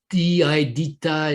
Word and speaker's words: DITA: la traduction du contenu DITA en contexte. DITA is also one of the key words. DITA is quite difficult to pronounce, and it would not be pronounced as an acronym.